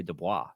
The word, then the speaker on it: Dubois: know how to say Dubois. That's a French-Canadian name I do know how to pronounce.